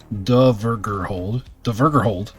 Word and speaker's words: Dvergrhold: The Dvergrhold, pronounced Dvergrhold.